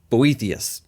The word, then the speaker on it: Boethius: have people like um cam pronounces NB o eth i us Boethius okay that's my best impression of this guy's name in the 400s you